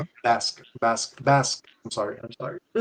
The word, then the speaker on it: Basque: He is BOS heritage. Oh Okay. Bas Basque.